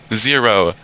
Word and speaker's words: Xero: know what's even weird it's spelled with an x what that's not how letters works i was about to say no it's uh it's actually xero like zoro no not zorro zero i don't know it